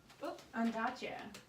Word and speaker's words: Ondaatje: Ondaatje.